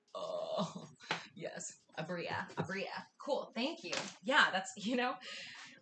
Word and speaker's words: Abria: Bria's amazing! Was I saying that wrong? I've only ever read her name. Oh yeah, it's Okay. Abria. Cool. I've been putting the emphasis on the wrong syllable.